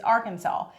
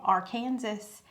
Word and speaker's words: Arkansas: The only acceptable way to pronounce it is Arkansas. So, you know, last week when I drew it out and I said it's called our Kansas, I'm guessing they could handcuff me for that